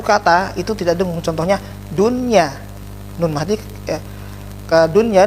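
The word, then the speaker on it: دنيا: Contohnya dunya, nun mati, ke dunya, nun mati ketemu dengan ya, tidak bacanya dunya, karena ini satu kata jadinya jelas dunya, ya.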